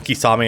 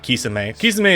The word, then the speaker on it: Kisame: day before it either calling him kisame and not kissing me is more is like more accurate for of the japanese pronunciation i still think the